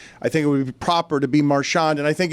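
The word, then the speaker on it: Marchand: He puts the emphasis on the first syllable. Yeah. Let's listen again. Brad Marshand.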